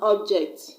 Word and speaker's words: object: when I use that word as a noun like pencil is an object phone is an object I'm gonna stress on the first level or be personal use it as a very I'm gonna stress on the second syllable J ect for example